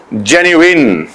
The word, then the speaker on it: genuine: लोग इसे जेन्युइन बोलते हैं, जेन्युइन बोलते हैं, पता नहीं क्या क्या बोलते हैं। इसका करेक्ट प्रोनाउंसिएशन जो है दैट इज जेन्युइन।